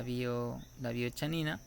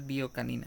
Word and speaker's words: biochanina: La isoflavona en comparación con la roja, que es la biochanina, que es esta de aquí, la biochanina, bueno, se pronuncia en realidad biocanina, ¿no?